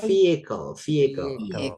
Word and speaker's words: vehicle: Bacanya bukan physical, vehicle. Oh, oke. Nice, vehicle ya. Bukan vehicle berarti Bro Koko ya. Bukan vehicle ya, but vehicle. Jadi hanya silent ya guys, vehicle.